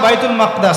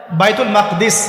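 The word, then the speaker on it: بيت المقدس: এবার এই বোরাক চলে গেল বাইতুল মাকদাস। এটা কোথায়? বাইতুল মাকদিস, বাইতুল মাকদাস না, বাইতুল মাকদিস। বিভিন্ন মানুষ বিভিন্ন উচ্চারণ করে।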